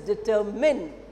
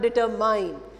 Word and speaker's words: determine: can improve okay so let us do somebody pronounced determind it does not deter mine it does determine am i any is mine but remember that